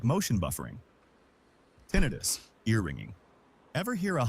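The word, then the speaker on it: tinnitus: That's tinidis. Often caused by exposure to One of my favorite things about tinidis is is uh it's pronounced tonitis.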